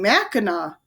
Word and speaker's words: Mackinac: is that how you spell the islands name it's spelled ma ckin AC but you've been saying Mackinac well Nicole began we learned on the field